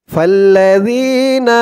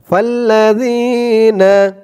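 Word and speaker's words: فَالَّذِينَ: বাদুকুম মিম এই জিম চিহ্ন হতে থামার কারণে উচ্চারণ হবে দরের নিচে দুই জের তানবিন সাকিন হয়ে যাবে ফাল্লাজিনা হাজারু ফাল্লাজিনা ফা দিয়ে লাম ধরবে ফা লাম জবর ফাল্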